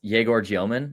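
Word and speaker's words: Egor Dëmin: I would say it wasn't the best game, but and also I think it's Yegor Gioman. Apparently, is how you say it now. Is what he's been saying in interviews.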